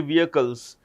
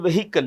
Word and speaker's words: vehicle: Which automobile company will take over the import, distribution and servicing of Bentley vehicles? The H in vehicle is silent, so it's always vehicle.